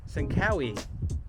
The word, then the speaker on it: Tsankawi: This is Natural Medic and I am at Sankawi which is part of Bandelier National Monument. Might have been pronouncing that correctly, but that's what I was told local pronunciation is.